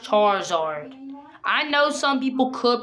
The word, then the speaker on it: Charizard: My hollow Charizard.